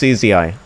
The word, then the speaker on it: Uzi: Alright, it's UZI. Okay? You have been pronouncing it wrong your whole life.